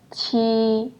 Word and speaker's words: q: This one is pronounced as qi. So what you're going to do is make your tongue flat and then try to pronounce the word cheese. Cheese, qi, qi.